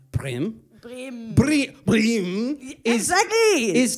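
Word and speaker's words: Bremen: what I write down is Breman but it's pronounced brim brim Bri brim exactly is Thomas Schumaker as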